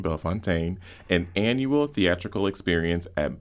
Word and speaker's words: Bellefontaine: Not Bell Fountain, Bell Fontaine, an annual theatrical experience